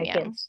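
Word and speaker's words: Yam Yam: And then um Jam Jam is really funny. or yam. I forget how you say it. It's jam jam, but it's spelled yum yum.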